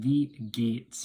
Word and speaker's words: wie geht's: But in German it's pronounced wie geht's.